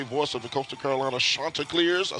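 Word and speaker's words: Chanticleers: Joe Catcher, if you didn't know, folks, longtime radio playby-play voice of the Coastal Carolina, Shantaa clears.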